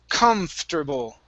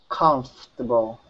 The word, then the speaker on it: comfortable: So the spelling means nothing concerning how we pronounce the word.